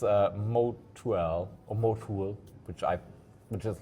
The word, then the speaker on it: mo2l: It's uh Mo or Motul which I which is like what I pronounce it, right? So it's M O. So Mike Oscar to Lima. Yes. Like Moal, like the motor oil brand.